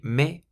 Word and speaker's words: mais: So because the word mais ends in an S, you don't pronounce it. So you just say mais for but.